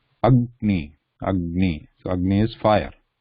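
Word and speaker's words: अग्नि: Agni, also same. Ag. You ga is half, then ni. Agni.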